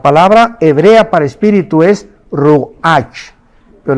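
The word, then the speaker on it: רוּחַ: hebrea para espíritu es Roach pero la ch en hebreo se pronuncia como J es rugajá como j y murió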